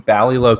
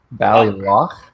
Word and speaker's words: Ballyloch: Patrick, hello, from New York, and Team Ballylow Classics. I hope I'm pronouncing that correctly. And then Ballyloch. Yeah, Loch. Yeah, Loch. As in, I've been saying it wrong this whole time. Yeah. Team Ballyloch Classic.